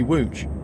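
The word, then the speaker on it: Łódź: DZ b c h how can LS be wooch that's insane Aviation 380 welcome to the stream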